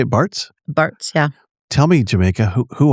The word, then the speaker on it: Bartz: Bartz, yeah.